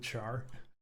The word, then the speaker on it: char: Called it char. Yeah, what do you call it? Kind of reminds me of like share. Like you pronounce it. Yeah, like yeah, like share but char.